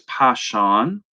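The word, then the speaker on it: Pishon: it but verse 11 I'm going to pronounce it the way I have always pronounced it the name of the first is passion it skirts the whole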